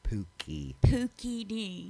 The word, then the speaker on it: Pooky D: poopy D see it it's all about pronunciation I would be mad if I were him yeah yeah let's just get it clear it's Pooky Pooky D not po thank you what am